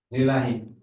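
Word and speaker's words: لله: Lillahi. Ketika lafal Allah kemasukan li, bacanya lillahi, li-nya langsung ketemu lam. Seolah-olah alnya nggak ada ya, karena nggak terbaca, betul?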